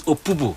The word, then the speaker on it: Opobo: He now named this place after Amaneabo Opobo, The actual pronunciation of that thing is Opobo.